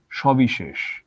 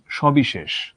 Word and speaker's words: সবিশেষ: বাংলা ভাষায় একটা মাত্র শব্দ আছে, এই শব্দটাতে তিনটা সই এসেছে: সবিশেষ, সবিশেষ, স, বিশেষ। তিনটা স তো আমি একইভাবেই উচ্চারণ করছি।